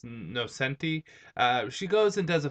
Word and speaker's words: Nocenti: And I guess I pronounced her name wrong. It's Nocenti.